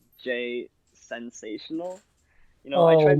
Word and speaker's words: Jasensational: Yeah, it's just Jason and then Sational. So it's Jasensational or it's Jasensational.